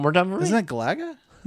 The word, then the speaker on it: Galaga: Could you pronounce that game one more time for Is that Galaga?